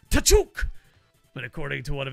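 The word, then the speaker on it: Tkachuk: It's pronounced T'Chuk, but according to one of his mates anyways.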